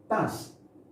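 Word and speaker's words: tasse: Tas, okay? This is this chair. So the chair, and this one, the nation. Tas, okay? We pronounce this tas.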